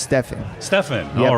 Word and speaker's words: Stefan: Yeah, it's pronounced Stefan.